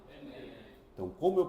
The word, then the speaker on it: Enem: Enem, eu digo e n ou chamo Enem? Enem.